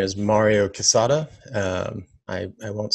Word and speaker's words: Quezada: It's pronounced Quezada. Quezada. Quezada. It's kind of like cheese. So quesadilla, quesadilla, whatever. That's how you pronounce it.